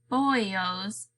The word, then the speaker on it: bollos: He pronounces it boyos.